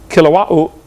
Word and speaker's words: Kilauea: Basalt from Mount Kilauea, however you say that. They pronounce every vowel over there in Hawaii.